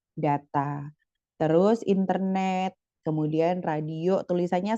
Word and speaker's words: data: Data, nah tulisannya sama ya, DATA gitu ya, DETE gitu kan. Tapi kalau di bahasa Indonesia, karena ada penyesuaian artikulasi, dibacanya data.